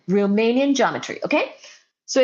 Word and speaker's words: Riemannian: Romanian geometry. Okay, so it's a it's it's uh pronounced a little different than it's uh spelled.